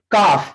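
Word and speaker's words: calf: काफ, जो रेड है वो साइलेंट वर्ड है, काफ, इसको हम लोग काफ बोलते हैं, बछड़ा जो होता है इसको, ये देखिए काफ।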